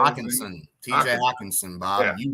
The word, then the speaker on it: Hockenson: Hockenstein, is that how you say it? Hockenson.